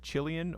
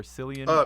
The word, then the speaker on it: Killian: Banton small pipes uh help me pronounce this one is it chillian or selan O'Brien yeah Killian O'Brien Killian okay um they make your